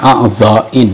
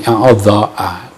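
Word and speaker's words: أعضاءٍ: Dibacanya a'dha'in ya. Beda dengan asya'a. Kalau asya'a itu ismul ladzi la yansarif. Kalau a'dha'in ini isim yang munsharif. Karena asalnya beda. Kalau asya'a asalnya asyiya. Itu ismul ladzi la yansarif. Saya lihat Fathul Mu'in yang ada harkatnya itu dibaca fi a'dha'a, keliru.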